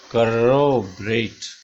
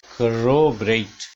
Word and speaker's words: corroborate: रा पे ऊपर जाएगा, corroborate, corroborate, ये ए साउंड है, ये सीधा ए नहीं है, this is not rate, this is rate, corroborate, 8 डिप्थोंगे।